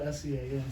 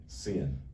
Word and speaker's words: Sean: It's spelled S-E-A-N, so they'd say, the teacher would read off the name, she'd say, Cian. Cian. Who's that? Yeah. That's Sean.